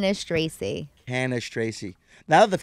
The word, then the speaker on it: Cannistraci: let's try it what is your last name canish Tracy canish Tracy now that the camera's on me I feel like I can pronounce it better canish Tracy there you go so you're standup a lot